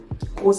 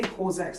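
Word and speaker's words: COSRX: Corx. I think I always pronounce that wrong, but Co RX. That's it. I always say Coex.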